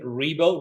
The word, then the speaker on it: Ribo: LinkedIn look for my name last name REO REO is spelled r i b as in boy o